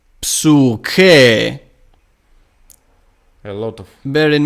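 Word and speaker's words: ψυχή: And in Homeric Greek it is psyche. A lot of. Bear in mind that the upsilon is a long one. It is marked as long one. So it is psyche, which means soul.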